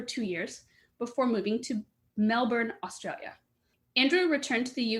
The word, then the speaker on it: Melbourne: the show Andrew hello well done on the pronunciations of those obscure places by the way clev spot on Melbourne spot on a lot of people say Melbourne including my mom but um you got it